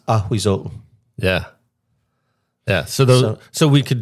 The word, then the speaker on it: Ahuizotl: Ahuzotl? I don't know. Can you pronounce that? Yeah. It's Ahuizotl.